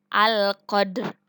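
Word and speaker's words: القدر: Qadda, dal dipantulkan tetapi tidak terlalu memantul disebut dengan qalqalah sugro.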